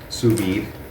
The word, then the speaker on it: sous vide: to be cooking this suid that's s o u s space v d e apparently you do pronounce the d okay so we have